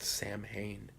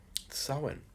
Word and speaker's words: Samhain: sulwon is coming yeah it's not pronounced Samhain soin why is it pronounced that